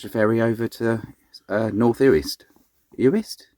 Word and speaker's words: Uist: And then hopefully we're going to catch a ferry over to North Uist. Uist? Uist.